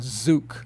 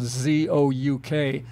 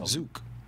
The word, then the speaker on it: Zouk: called zuke opened up i wasn't sure how to say it spells z-o-u-k phonetically that would be zouk i think but i called nasa and sure enough it's called zuk and it's just zuke all right and what